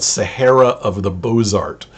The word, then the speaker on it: Bozart: story about the south called sahara of the bozart it's about b-o-z-a-r-t uh presumably the southern pronunciation of the word bozar and um he